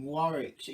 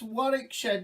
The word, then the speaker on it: Warwickshire: god not what oh god the people in warwickshire you can go you can go oh god